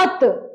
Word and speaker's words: अतः: चलिए अच्छा यहां पे विसर्ग नहीं रहे तो क्या पढ़ेंगे? अतः अत अत और लग गया तो अतः अतः क्लियर है?